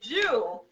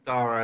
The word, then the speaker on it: Dara: We have the wonderful, is it Jew? Am I saying it right? Saying it right? Yeah, Dara, as I say.